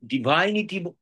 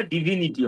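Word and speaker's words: divinity: form for ডিভাইন বলা যাবে ডিভাইনিটি এটা ডিভাইনিটি উচ্চারণটা ডিভিনিটি হয় যাই হোক ডিই এনইটি কারেক্ট এটা ভার্বটা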